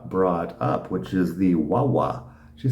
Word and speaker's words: guagua: And somehow, in the Canary Islands, they call their buses wawas. So that's definitely pronounced in the Canaries with a W sound.